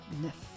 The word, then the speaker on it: neuf: Neuf. For once, the letter at the end is not silent, so you have to pronounce it.